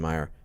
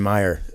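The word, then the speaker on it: Maia: amazing people like John Danaher, Eddie Bravo, Damien Maya. Damien Maya. Damien Maya. I said it right. Yeah. Oh my You God. said it with like an accent. Damien Meyer.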